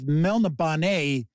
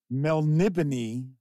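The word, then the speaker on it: Melniboné: There's some discussion of Elric of Melnibonet, which is how we used to pronounce it for years. And then it turns out it is pronounced Melnibony.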